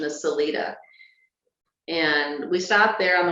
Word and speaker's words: Salida: was this is actually we thought it was pronounced Salida but if you look up the the original pronunciation is celita and we stopped there on the way down